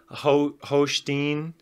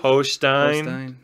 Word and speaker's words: Hochstine: We got Hochstine. Did I say it right? It's pronounced the same way as his. Hochstine.